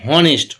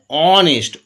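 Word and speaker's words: honest: এন এবার দেখো আমরা কেউ বলি না যে হনেস্ট হ বলি না আমরা এই ক্ষেত্রে যেমন ছিলাম হর্স হ উচ্চারণ হচ্ছিল এইচ উচ্চারণ হচ্ছিল এদিকে কি হচ্ছে অনেস্ট অচ্চারণ হচ্ছে অনেস্ট বলি না আমরা তাহলে অ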